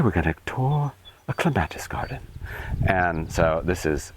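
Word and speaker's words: clematis: This is uh Clatus or as the British say clemetists.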